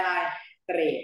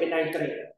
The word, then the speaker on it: ไนเตรต: ก็ เป็น น อะไร เตรด ห้อย 2 อ่าน ว่า ไตร ห้อ ที่ 3 อ่าน ว่า เตรด นะ ครับ ไตร แล้ว ก็ จะ เปลี่ยน เป็น ไนเตรต เรื่อง นี้ น่า จะ